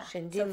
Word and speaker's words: Shinrin-Yoku: Because it is spelled with an R but pronounced as a D. Okay. Yeah. Shinrin-Yoku.